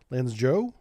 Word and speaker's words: Lanzhou: This is the Lanzhou, or Zhao, Lanzhou, I believe is the proper pronunciation there. I'm getting better at my Chinese here.